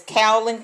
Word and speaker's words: kaolin: night you know you probably should I can't pronounce it it's kaolin cat clay if you know how to pronounce